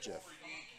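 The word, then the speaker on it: GIF: you're using it as a word so it's pronounced jiff tomato tomahto tomato potato so do you thinks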